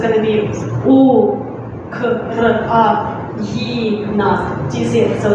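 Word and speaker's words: Україна: I would just write it down, it's a bit long, so it's going to be Ukraina. Do you see it? So it's Ukraina. Once again, Ukraina.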